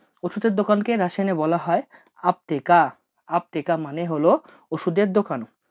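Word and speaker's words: аптека: ওষুধের দোকানকে রাশিয়ানে বলা হয় আপতেকা।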